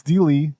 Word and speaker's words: D Lee: But it's D Lee, like Bruce Lee.